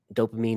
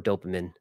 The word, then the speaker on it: dopamine: dopamine or dopamine. Both are acceptable.